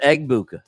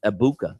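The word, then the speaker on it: Egbuka: You think the the G is silent? Ibuka. I think it's In fact, I went on YouTube the other day and listened to some calls and I think the G is silent. I think it's Ibuka.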